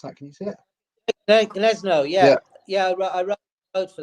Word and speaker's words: Gniezno: And how do you remember the times of the starts in Gazeno? Greetings. Is that right? How do you pronounce that? Can you see it? Gniezno, yeah.